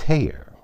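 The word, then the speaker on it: Haigha: does them when he's happy his name is Haya his name is Hayer he pronounced his host to rhyme with mayor I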